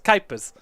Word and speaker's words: Kuipers: It's Timo Kuipers.